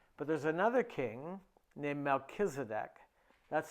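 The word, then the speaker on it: Melchizedek: this whole thing but there's another king named melchisedek that's how I say it I'm not sure how it's really pronounced in in in Judaism how's this pronounced Verse 18 in Spanish oh we say melkisedek he's the king of Salem which is the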